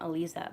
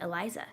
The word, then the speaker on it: Elisa: guess if you count elisa but eliza really isn't muslim and in this country nobody can say my name right they call me eliza so yeah you know